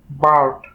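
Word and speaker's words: bird: নিয়ম অনুযায়ী যদি কোনো ওয়ার্ডে ভাওয়েল আই এর পরে কনসোনেন্ট আর থাকে তখন সেই আই কে আমরা উচ্চারণ করব আ। যেমন বি আই আর ডি, বার্ড, কারণ আইটা এখানে আয়ের মতো উচ্চারিত হচ্ছে যেহেতু আয়ের সাথে আর আছে।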